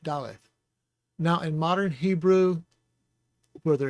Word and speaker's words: daleth: then there's no dog-ish so you get the fricative th sound so dallas and it would be spelled in english as d-a-l-e-t-h dalit now in modern hebrew